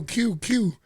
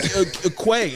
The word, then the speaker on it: Que: I'm gonna spell it as in QUE. Unique. But nobody knows how to read it. Right. Yo, it sounds like Quay, DJ Quay, Quest, or Spanish people say DJ KK.